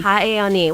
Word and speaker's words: Hahaione: Or can you pronounce it for me? Yes, that's correct. Hawai'i Elementary. Hahaione.